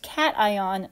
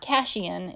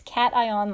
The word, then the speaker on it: cation: That's pronounced cation, not cation. It's cation like kitty cat.